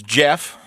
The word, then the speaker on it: Gef: to um I will not up next is Jeff spelled GF no in September GF g e